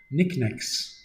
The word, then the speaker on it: knickknacks: Knickknacks with a silent K.